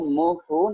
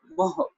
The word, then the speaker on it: मोह: जो नाउन है मोह, इसको मोह नहीं पढ़ना, हाय की अंकुर नहीं उच्चारनी, हाय के साथ मुक्ता उच्चारण करना है, मोह, ठीक है। मोह, ह पर ब्रेक दे देनी है, हो नहीं बोलना, ह बोलना है, ठीक है।